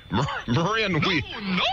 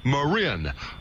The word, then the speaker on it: Marin: knew i'd just say that sooner or later marin thank you that's pronounced marin marin that's right m a h ma rin